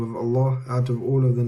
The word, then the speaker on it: Allah: is the purest name of Allah out of all of the names of Allah